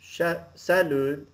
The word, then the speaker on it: salut: So, I want you to completely ignore the T. Don't pronounce it.